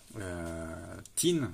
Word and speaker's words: Qin: Tin, ça se prononce en chinois, mais ça s'écrit bien Q-U-I-N.